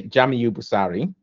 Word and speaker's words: Jamiu Busari: think you mispronounce um I'll say jamuari which is yeah Jam it's just where you you plac the emphasis okay Jam thank you